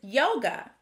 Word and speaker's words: yoga: We have the word yoga. Does yoga have the schwa sound at the beginning or end of the word?